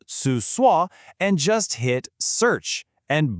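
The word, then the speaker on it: 厕所: They mean toilet and it's pronounced su sua, and just hit search.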